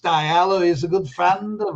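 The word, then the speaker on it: DiLello: longest cocktail party by Richard dialo and I pronounce the guy's name dielo but Joey's gone it's pronounced dialo is a good friend of ours and because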